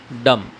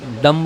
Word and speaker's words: dumb: अब इसको कैसा पढ़ेंगे? डम डम्ब होता था, अगर बी मिला तो डम्ब होता था, डम।